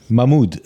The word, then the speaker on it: Mahmoud: Mahmoud. So it's Mahmoud. you don't say the H.